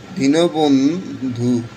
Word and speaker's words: দীনবন্ধু: আমি প্রথমেই বলছি যে যদি আমরা শুদ্ধ উচ্চারণের নিয়মে যদি দীর্ঘিকার দেখতে পাই, শুদ্ধ উচ্চারণ করানোর সময় রসিকার হবে। এই রসিকার দেশকে দি, নৌকার নো, দিন, ব, বন্ধু, দীনবন্ধু। এরপর আমরা দেখতে পাচ্ছি বিজ্ঞান।